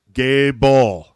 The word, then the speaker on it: Goebel: he picked up the mic and he said Gable yeah I am known for destroying names on